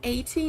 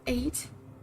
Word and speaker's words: eight: And I also I notice I I say 80 instead of eight. I say 80 instead of eight. I think eight is the right, right?